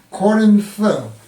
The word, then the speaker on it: Corinth: 호소가 전혀 남아 있죠 고린도는 영어로는 코린스 그리스어로는 코린소스 뭐 이렇게 발음이 되는데 그리스의 고대 도시로 교통